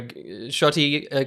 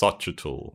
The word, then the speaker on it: Xochitl: I think it's pronounced Xochitl. Xochitl. There you go. I think. Joshy wrote a note somewhere, so I'm going to find it. I think it was Sochi, but I'm not sure.